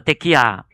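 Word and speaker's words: תקיעה: 이 이게 이게 어 히브리어이 가면은요 이게 발음이 우리는 혀에서 많이 나오잖아요. 안녕하시 이렇게 하는데요.이 사람은 허파에서 많이 나와요.이 뭐 이렇게 어에이 아브라함 이러는데요. 이렇게 어 좀 뭐 어 그렇게 좀 하더라고요. 그러니까 호흡에서 나오는 그 힘들이 어 언어가 굉장히 듣기가 어 권위가 있어요.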